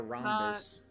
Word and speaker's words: rhombus: Instead of drawing a rhombus. It's rhombus. I've never heard of rhombus. It's spelled R-H-O-M, rhomb.